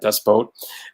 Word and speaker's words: Das Boot: Das Boot, excuse me, I said it right, Das Boot, the German film.